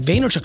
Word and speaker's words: Vaynerchuk: of Candor no it's the emphasis on the first part it was Gary vaynerchuk struggled mightily a I